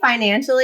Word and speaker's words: FinanciALLI: of is now Ally how do I pronounce this right is it Financial Ally I mean you say I say financially it's just spelled like a l l I like my name love